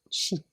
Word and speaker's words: chi: Ça s'écrit C-H-I et ça se prononce Qi.